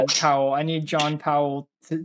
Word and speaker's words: Powell: I need uh John Powell or I you told me how to pronounce it. I did it wrong. Powell.